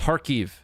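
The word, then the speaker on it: Kharkiv: Uh the K and Ukrainian city names is silent. Kkefe is Harkke and Kersonen is Herson.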